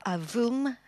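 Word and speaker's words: AVUM: We call it the AVM, or AVOOM, pronounced in French, getting ready to switch on its engine.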